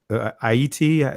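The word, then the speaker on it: Ayiti: Aida, Aiti. Is that how you pronounce it? Yeah, I-E-T. Yes, I-E-T. It's very Okay, interesting. So Aiti. Okay, don't worry about the H.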